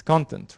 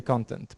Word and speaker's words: content: to pronounce this because if it's a noun it's its content right if we're referring to the noun we say content but if we are talking about the adjectives that you are satisfied we say content right so the pronunciation the stress pattern differs between whether this word is a noun or it's an adjective so a system like